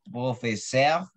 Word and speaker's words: professeur: Es como entre una O y una E. Entonces, se escribe con doble. No suena.